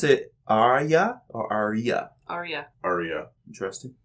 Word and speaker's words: Arya: Now, do you pronounce it Arya or Arya? Arya.